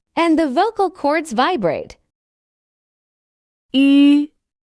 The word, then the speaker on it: 吁: 吁、吁，吁， When pronouncing this sound, the lips form a rounded shape, nearly closed, with the tip of the tongue touching the lower gum ridge, the front part of the tongue arching upwards, and the vocal cords vibrating.